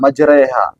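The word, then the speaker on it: مجريها: Bismillahi majriha, majriha mana ada ee di dalam bahasa Arab tuh e. Tapi ketika kita membaca ayat ini, kenapa kok dia harus bacanya majriha? Majreha.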